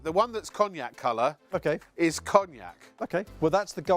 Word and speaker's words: cognac: It's cognac. It's pronounced cognac. It's French.